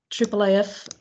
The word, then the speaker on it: IIIF: should tell you what triple AF is about so we have triple AF spelled like this and it's a International